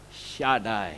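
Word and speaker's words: שדי: kemudian depannya ada kata Shin maka akan terbaca syadai Hai Shaddai itu artinya Oh Michi dahsyat luar biasa super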